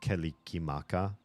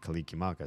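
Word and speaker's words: Kalikimaka: for Christmas it's pronounced kikim Maka so every s sound was replaced with a K to get anywhere even close and kikim Maka sounds really really foreign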